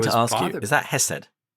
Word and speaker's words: Hesed: And so the Hebrew word is pronounced hastaka, but if it were without the thy, it would be Hesed.